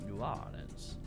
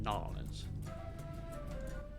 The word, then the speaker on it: New Orleans: And it's interesting how he pronounced it New Orleans, as opposed to Nolans.